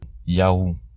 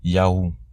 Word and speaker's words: Yahou: Ces trois lettres ensemble se prononcent Yahou. Le vav devient un U et se prononce donc ou, Yahou.